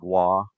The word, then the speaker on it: Gua: pronounce is it's pronounced Gua like guacamole minus the cimi it's one syllable instead of Gua it's